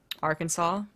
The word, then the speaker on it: Arkansas: you as a non-american Kansas and Arkansas why would that bother me because it's spelled Aransas oh I've never actually thought about that so there's like a funny like Vine or whatever of like um wait is actually not like it's spelled AR Kansas yeah like that's yes